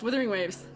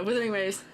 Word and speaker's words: Wuthering Waves: Wther Have you not heard of Withering Heights? I've heard of Withering Heights, which a thousand% It's spelled the same way.